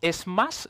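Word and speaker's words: SMACSS: vas añadiendo vas teniendo como modificaciones luego tenemos es más se pronuncia así él lo leído en la documentación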